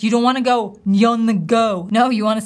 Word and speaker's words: Nyong'o: This ing ending, we should feel the vibration in our nose, nyong'o, nyong'o, oh, nyong'o.